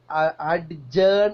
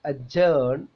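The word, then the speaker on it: adjourn: അത് ഡി അല്ല okay അഡ്ജേൺ എന്നാണ് മലയാളികൾ ഉച്ചരിക്കുക ബഡ്ജറ്റ് എന്നും ചിലപ്പോൾ മലയാളികൾ ഉച്ചരിക്കും ഇത് രണ്ടും തെറ്റാണ് ഒന്നാമത്തേത് എ ജേൺ ബാജിറ്റ് ബാജിറ്റ് എന്നാണ് ഉച്ചരിക്കേണ്ടത് ദി വേർഡ് ബി ഈസ്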